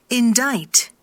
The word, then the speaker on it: indict: indict, 요거 이것도 읽어보면 indict이래요. indict입니까? indict입니까? 심지어 이 C 발음이 되지도 않아요. 그래서 indict.